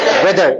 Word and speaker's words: weather: वेदर, यहां भी वेदर एच नहीं पढ़ते, लेकिन TH में के दागा साउंड बन रहा, लेकिन वे धर धर तो नहीं बोलता ना अपन, वेदर, ओके।